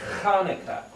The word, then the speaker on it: Hanukkah: word Chanukah, or pronounced Hanukkah, but it's really Hanukkah. It's this guttural sound.